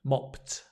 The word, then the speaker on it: mopped: washed washed the dishes so notice here it's a ta T sound mopped but this one is a D sound washed washed right good um